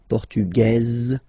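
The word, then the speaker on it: portugaise: The Feminine form okay masculine portug you don't pronounce the S feminine form portuges you pronounce this z sound okay and then ESP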